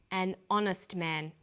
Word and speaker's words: honest: a happy man but an honest man the H is not pronounced so honest sounds like